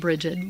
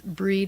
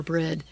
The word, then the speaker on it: Brigid: And her name you can either either either say it Brigid, which most people do and that's why I pronounce it that way, but the actual pronunciation is Breed or Breed, the bright one, goddess of poetry, of the